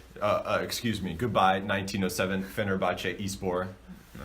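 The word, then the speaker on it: Fenerbahçe Spor: excuse me goodbye 1907 Fenerbahce spore is born that's how you say it in Turkish but okay that's yeah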